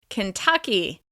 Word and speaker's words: Kentucky: Kentucky. This state is stressed on the second syllable.